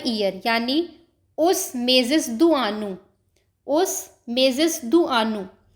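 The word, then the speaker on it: junho: Next है हमारा months of the year यानी उस मेजसदानु।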